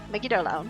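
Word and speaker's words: Megidolaon: You pronounced it correctly. Oh, that's cool. Megidolaun.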